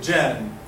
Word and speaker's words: جان: Mus'haf, in the Quran, jan is mushaddada. So if you're going to stop at it, okay, if you're going to stop at this word ends with this letter, and it's mushaddada. So we should still have this ghunna. Actually, jan, it is because it is mad, and this is mushaddada, so this is, we prolong it for 6 beats.